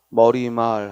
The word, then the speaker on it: 머리말: 위해 께 봤다고 말할 수는 없다니까 왜 얘는 발음이 모르나 머리말 하고 첨가한 일어나요 그냥 안 일어나기 때문에 숍